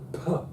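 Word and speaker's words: φ: Puh, that's brilliant.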